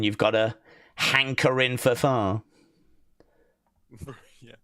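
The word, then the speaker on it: phở: Uh it is pronounced fur and is a popular uh Vietnamese noodle soup consisting of broth, rice noodles, herbs, meat.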